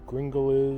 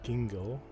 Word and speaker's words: Gingell: i don't know who fred gringle is dingle as it's pronounced and this is what